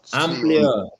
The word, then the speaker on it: amplio: Arriba del balcón es muy amplio. Nuno. Amplio.